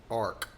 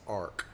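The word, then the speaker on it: Orik: But they pronounced the name Arc. They pronounced Oric as Arc, A R K.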